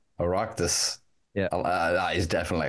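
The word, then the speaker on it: Oireachtas: Aractus. Aractus.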